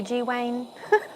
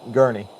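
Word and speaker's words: Gurney: what did you say how do you say G Wayne it's gurnie gurnie that's right not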